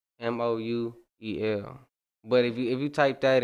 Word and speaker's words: KhamouEl: KhamouEl, man.